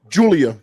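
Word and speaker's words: Giulia: against is is it gulia Sean am I saying Julia is it gulia or Julia Julia Julia it's basically like Julia Hart but it's spelled differently okay so we so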